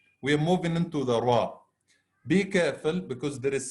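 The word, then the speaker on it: ر: FRA is quite easy the tip of the tongue with the gums of the two top front teeth after the massive noon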